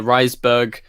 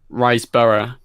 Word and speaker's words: Riseborough: I love him in that oh and Angela rice Berg sorry how do you say her name Angela riseborough that's it I love her she's she was